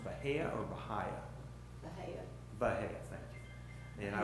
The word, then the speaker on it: Bahia: I would, as far as ground cover, I was mentioning, is it pronounced Bahia or Bahia? Bahia.